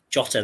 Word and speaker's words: Jota: Jota there.